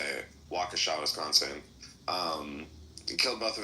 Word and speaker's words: Waukesha: Waukesha. Thank you. I'm like, I have no clue how to say it. Waukesha, Wisconsin.